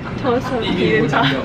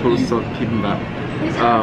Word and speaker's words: Dolsot Bibimbap: Dolsot Bibimbap. Dolsot Bibimbap.